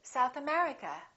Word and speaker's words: South America: names of places if the place has two words we stress the second word for example South America we say South America United Kingdom we say